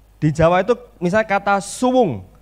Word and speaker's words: suwung: Di Jawa itu misalnya kata suwung. Suwung itu S-U-W-U-N-G. Itu artinya kosong. Suwung atau tidak berpenghuni. Itu bacanya bukan suwung, suwung.